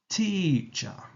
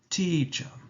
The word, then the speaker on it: teacher: to the next word teacher follows exactly like the previous word t in a stressed Manner and with the schwa in a relaxed Stone so it's teacher teacher I think this is